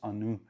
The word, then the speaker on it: Ani: At number 8, Ani by Nishane. True pronunciation is Anu, means memory in Turkish.